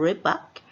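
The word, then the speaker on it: рыбак: E existe, né, é uma pronúncia, é claro, própria deles, algo como rebak, alguma coisa assim.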